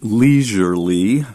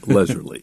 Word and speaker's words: leisurely: potentially artificially leely leely we also pronounce d leisurely in on the East Coast we pronounce that as an e in other parts of the US they say leisurely yes okay number nine